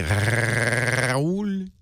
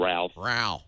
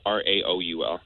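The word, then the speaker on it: Raúl: I like when you roll your R. Raul. Most people can't do that. Raul. They call me. I get called Ralph. Ralph. Yeah. Hey, Raul. Raul. Yeah. Is that the Spanish or the French pronunciation? I feel like I'm saying it the French style. Raul. No, that's Spanish. Is it? Raul in French is Raoul.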